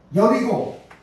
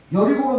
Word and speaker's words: 여리고: 여리고 여리고는 예리 예리 원래는 발음은 예리고 아고 돼 있습니다 예리고 예리 예 예리 호 예 리호 예 예리 호로 되 있는데 이것이 바로 여리고는